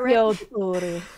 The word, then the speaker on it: Ezio Auditore: Ezio Auditore. Yeah. I'm so bad at pronouncing things.